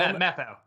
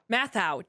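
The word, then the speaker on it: Matthau: the Jack Lemon Walter Matthew ma Matthew film mathau matau dang it I knew I was G to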